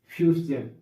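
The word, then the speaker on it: fusion: तो यहाँ एग्जाम्पल देखिए, जैसे OCCASION, इसके पहले ए आया, ए वावेल है, इसका उच्चारण सजन यानी ऑक्सीजन। ऐसे इसमें कॉलिजन, फ्यूजन, इल्यूजन।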